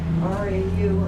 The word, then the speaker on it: Rau: And of course, RAU and RAUH were German sort of spellings and pronounced Rau. But then they started spelling it ROWE. And so by the time they got to Western New York, it's Row. That's right.